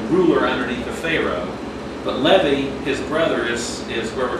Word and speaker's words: Levi: But this time we're going to be looking at Levi, or Levi, you might pronounce it.